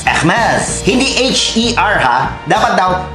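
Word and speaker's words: Hermès: brand na to, eh Hermes. Hermes. Hermes. Hindi H-E-R ha, dapat daw E-H-R. At hindi mo raw bibigkasin yung H tsaka R.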